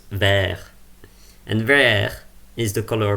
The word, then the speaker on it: verre: And in French it's pronounced verre.